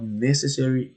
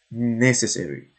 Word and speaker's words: necessary: it the opposite of necessary is unnecessary so pronounce it necessary distress is on the first syll necessary unnecessary but also